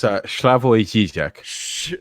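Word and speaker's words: Slavoj Žižek: I'm really bad at pronouncing people's names. It's Slavoj Zizek. Okay, you said it. I'm going to call him Zizek because that's way easier and funner.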